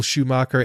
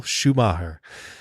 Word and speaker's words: Schumacher: podcast out there just please don't say Michael Schumacher anymore he is Michael Schumacher so ok fair enough for us but agree to disagree I'm a little bit too English in my pronunciation so maybe maybe we